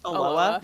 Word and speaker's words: Aloha: I lived in um there's an area called Aloa where I lived for a bit and uh it's spelled like Aloha but it's pronounced Aloa.